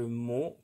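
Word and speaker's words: Mauho: l'oracle Béline et l'oracle Mo que vous ne connaissez peut-être pas. Je vais vous montrer la boîte au cas où. Donc ça s'écrit M-A-U-H-O. Voilà, le zoom est bon.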